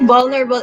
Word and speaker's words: vulnerable: How do you speak vulnerable? Eto. Vulnerable is a 4-syllable word with stress. Vulnerable, da. So, the first syllable should definitely say like something important syllable.